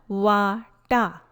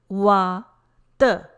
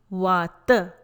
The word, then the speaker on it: Vata: Pronunciation is not Vata. It is not Vata. Please note, correct pronunciation is Vata. Vata. Letter T is a soft dental sound for Sanskrit, the sound.